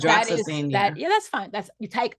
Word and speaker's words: hydroxyzine: It's hydroxine. I think that's how you pronounce it. So that's hydroxyzine.